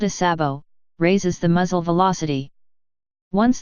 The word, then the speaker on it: sabot: The name sabot, pronounced /sbo/sabo in English usage, is the French word for clog, a wooden shoe traditionally worn in some European countries.